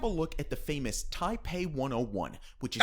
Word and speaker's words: Taipei: To start with, let's have a look at the famous Taipei 101, which is Taipei. 500 That's how you say it, bro. meters tall. It's Taipei.